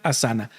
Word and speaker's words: Asana: nombre, se llama amshala asana. A m ss h a l a amshala. Y asana se escribe a s a n a asana.